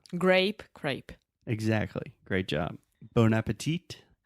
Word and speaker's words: bon appétit: Bon appetit. A gente em português fala bom apetite. Yeah, that one's not too different. Bon And in appetit. French, bon appétit.